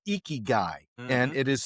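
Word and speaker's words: ikigai: It is called eeky guy and it is spelled y i k i g ai.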